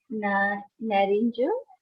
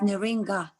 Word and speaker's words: Naringa: So now come to the Narinja. Oh, Narinja. Sorry if I pronounced wrong. Hi, my name is pronounced Naringa. Naringa. My name is Naringa, yes.